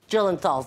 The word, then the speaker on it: Gyllenhaal: Gyllenhaal, thank you, and Dustin Hoffman.